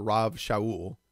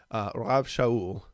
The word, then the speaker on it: Rav Shaul: been called Rabbi or Rav Shaul, right? Rav is like the Hebraic form of the word rabbi. It's how they would pronounce it. Rav Shaul.